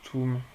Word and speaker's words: toum: Donc, le toum, ça se prononce toum.